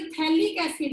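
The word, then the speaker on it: phthalic acid: जब आपका बेंजीन की 1 और 2 पे होगा COOH, तो उसको हम बोलेंगे थैलिक एसिड। यहाँ भी पीएच साइलेंट है।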